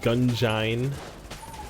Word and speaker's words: Gungeon: like it's an it's like an engine so it's technically I I'll probably phonetically say it gun join just for your spelling